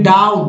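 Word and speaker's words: doubt: फिर डाउट, डाउट में B silent है, डाउट, डाउट, ठीक है, बी साइलेंट है तो संदेह।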